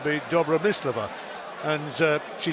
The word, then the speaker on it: Dobromyslova: suspect it wouldn't be Joey Slover it's me Dabra miss Leveaux and she said yeah it's been mispronounced so long now I've kind of got